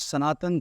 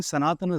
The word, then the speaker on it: Sanatana: That's the right way to pronounce it, first and foremost. When we say Sanatan, it means the last syllable is missing there. Okay. But the syllable is not missing from the word.